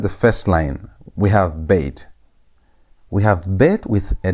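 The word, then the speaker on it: ב: So when bet is having a dot, a dagesh inside it, you pronounce it as B. B sound. B as in boy. That's the pronunciation. The normal pronunciation of bet is only read like that when bet is having the dagesh, the dot. But when bet has no dagesh, pronunciation changes. Instead of saying B, you say V.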